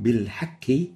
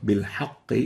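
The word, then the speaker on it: بالحق: So saying بِالْحَكِّ instead of بِالْحَقِّ is wrong. And the right way of pronouncing it is like Sheikh Al-Husari's pronunciation in here. وَبِالْحَقِّ أَنزَلْنَاهُ وَبِالْحَقِّ نَزَلْ. بِالْحَقِّ is right. بِالْحَكِّ is wrong.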